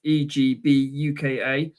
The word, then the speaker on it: Egbuka: So on wide receiver wise, you're looking at number 2, Emi Egbuka. That's Egbuka.